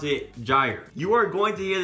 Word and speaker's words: gyre: never heard of this word gyre I first pronounced it die reef but you actually pronounce it gyre you are going to hear this term a